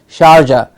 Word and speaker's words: Sharjah: matches are played there it is charger SH AR Jha in the middle-east Sharjah a famous historical city